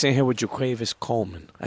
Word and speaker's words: JaQuavis: Coleman I said it right jaquavius Coleman right jaquavis jaquavis jaquavis we're sitting here with jaquavis jaquavis